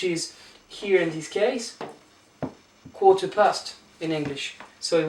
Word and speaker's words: quart: here in this case, quarter past in English. So it would be 6h15 in French. Écart. Quart means a quarter. You don't pronounce the T here, so we're saying écart and quarter.